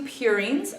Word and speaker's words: purine: um and the two purines are Adine and guanine or a and g as you may have heard it U the U and purine rhymes with two so U and two